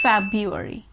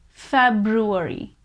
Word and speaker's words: February: of books next is february february yes you heard me right it's fab u r e we just don't pronounce that r but even though if